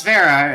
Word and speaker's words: Vera: like trying to figure out what the correct pronunciation for my name was and I'm like oh it's Vera and and it was like oh it says